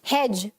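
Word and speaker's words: hedge: हेज. Fine. Next क्या है? Bridge. Bridge. ठीक है? यहां पर भी ये जो डी है वो साइलेंट है. हेज में भी डी साइलेंट है और एज में भी डी साइलेंट है.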